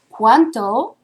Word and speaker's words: cuánto: And be careful on the pronunciation because cuando with a D, right, can maybe sound kind of similar to cuánto with a T.